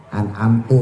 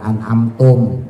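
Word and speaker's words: أنعمت: Ya anamtu bukan anamtum. Kemarin juga masih banyak yang pakai tum. Anamtum bukan anamtu. Amtu ya pakai ta enggak ada m-nya, enggak ada mimnya.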